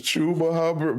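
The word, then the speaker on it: Chuba Hubbard: His real name is Chuba Hubard, but I you know we play around.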